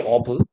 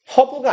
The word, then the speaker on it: herb: 어브. 허브가 아니라 어브라고 발음을 하는게 맞아요.